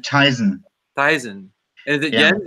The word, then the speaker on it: Thiessen: Is it Thiessen? Close enough. Well, tell me how it actually is supposed to go. I pronounce it Tyson.